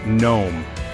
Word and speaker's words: gnome: gnome Gat and sign the G is not pronounced so gnome is pronounced gnome let's review what we've